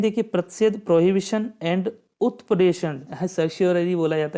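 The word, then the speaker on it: certiorari: देखिए प्रतिषेध, prohibition and उत्प्रेषण, सर्स्योररी बोला जाता है इसको, थोड़ा प्रोनाउंसिएशन थोड़ा इसका टफ है।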